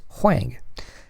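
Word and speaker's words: 黃: However, the same two surnames in the Peking dialect are pronounced differently. One is Wang and the other is Huang, so that in the north of China, the two surnames did intermarry.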